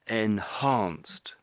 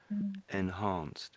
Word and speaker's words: enhanced: Basically enhanced. Enhanced. Yeah. So I think when you said this word, it didn't didn't sound quite right. And it was the H, I think.